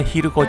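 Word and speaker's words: 蛭子: んですけどもこちらヒルコ神社と読みますはいこちらのね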